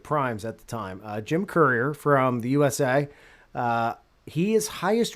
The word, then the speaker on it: Courier: So You pronounce it right, Courier.